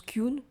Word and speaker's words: Kyung: Elle a dit, elle la prononce Kyun.